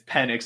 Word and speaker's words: Penix: I mean, it's Penix, not Penix, but I know that.